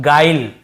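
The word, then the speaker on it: guile: यू के साथ आई तो हम उससे यू को नहीं पढ़ते देखिए इससे हम पढ़ रहे हैं गाइल है ना ग्विल या गुले ऐसे नहीं पढ़ रहे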